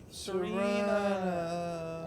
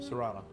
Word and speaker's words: Serana: Oh, it's Serena. I'm sorry. How do you say her name? Serana.